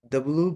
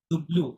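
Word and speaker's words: double vé: ডব্লু বে ডুবলু, ডাবলু না, ডুবলু, ডব্লু হ্যাঁ, ডুবলু ভে, ডব্লু ডব্লু বে ডুবলু ভে, ডব্লু বে ওকে um এখ এখ না, দেখুন ইক, কি হবে?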